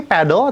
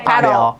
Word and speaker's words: padel: Sebenarnya yang benar bacanya apa sih? Padle atau padel? Padel.